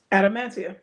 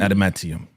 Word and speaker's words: adamantium: is it called how do you say it adamantium adaman Adan adamantium right and we meet Sidewinder yeah yeah yeah